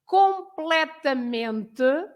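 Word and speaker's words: completamente: you have for example completement you split the word gold play so the stress must be in um the one before the last uh um so so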